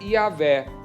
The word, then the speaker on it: Yahweh: Senhor, que na realidade no hebraico é impronunciável, mas nós colocamos algumas vogais para podermos falar, que é Yahvé, aquele que existe, aquele que traz existência a tudo que existe.